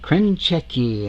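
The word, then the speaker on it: Krenchicki: Krenchecki, and that's how you pronounce that.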